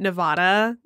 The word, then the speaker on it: Nevada: unless it's like Nevada, where they get really upset if you say it wrong. Yeah, I fixed myself on that one really quick. I used to be a Nevada person, but it's Nevada. It's Nevada, right?